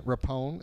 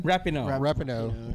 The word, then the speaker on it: Rapinoe: Megan Rapone, is that how you say her name? Rapinoe.